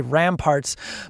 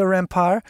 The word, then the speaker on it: Remparts: I'm probably pronouncing that wrong. I always want to say Ramparts, but Rue des Remparts, which follows the climb up Côte de la Montagne.